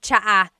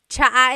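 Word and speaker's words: tsa: And it's spelled T S A. Cha. Cha. That's such a Tagalog spelling. I love it. There's the ts sound and then the double vowel uh pronunciation.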